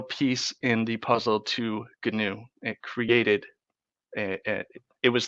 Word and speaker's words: GNU: continued develop to develop canoe which is spelled GNU it's got a great